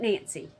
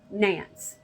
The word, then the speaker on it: Nance: It was likely a fight over a growing relationship between a young actress named Nance O'Neill, not Nancy, Nance, unless they pronounce the E as E, Nancy, but it's spelled Nance O'Neill.